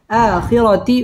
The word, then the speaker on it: الآخرة: একালিফ টেনে পড়তে হবে আখিরা র পুর হবে আখিরাতি ওয়াও ঠোঁট গোল করে